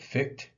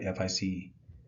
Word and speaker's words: Fichte: antithesis, and synthesis is really a construct of Fichte. I think I'm pronouncing his name right, Fichte.